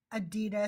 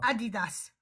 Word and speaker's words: Adidas: It's not Adidas. It's Adidas. All right, let me sign.